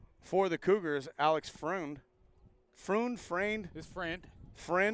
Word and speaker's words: Freund: Friend. His friend. Friend. Like friend. Okay. Yeah. Friend. 2 outs. For our listeners and viewers, they spell it F-R-E-U-N-D. So Friend, 0 for 1 so far today.